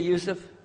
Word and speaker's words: Yusuf: my name is Yousef can you say Yousef you say Yousef you're very good I wish you teach my wife she keeps mispronouncing it she calls me useless HD